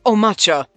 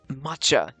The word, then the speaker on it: matcha: Then I shall master the way of Omacha. That's not how you pronounce it. It's matcha.